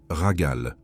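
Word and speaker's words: רגל: Il se prononce ragal.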